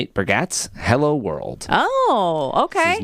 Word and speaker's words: Bargatze: dad, Nate Bargatze. I'm like, now I know how to pronounce it.